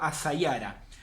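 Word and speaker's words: السيارة: Por ejemplo, auto empieza con la S, asayara. La S solar, digo asayara.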